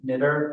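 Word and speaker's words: Knuetter: we bring on Ted Knitter as a alternate on the planning board. Do I have a motion sure, I'm gonna have to get the spelling, I think it's K-N-U-E-T-T-E-R. Pronounce knitter.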